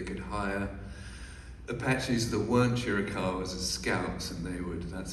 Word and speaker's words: Chiricahua: Help me with the pronunciation of this Indian tribe we talked about earlier. The Chiricahuas?